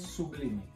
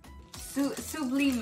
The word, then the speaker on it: Sublime: Sublime. Sublime.